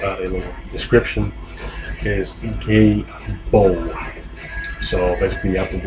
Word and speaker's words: Gebo: The pronunciation, and as always I will add a little description, is Gebo.